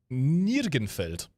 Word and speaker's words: Nirgenfeld: is going to be Nirgenfeld. See, I'm glad that I can read that in the German pronunciation, because that was a trap right there.